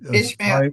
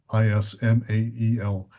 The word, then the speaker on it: Ismael: it's Ishmael. IS is not an H. IS is real. Sorry, Ishmael. Ismael Perez.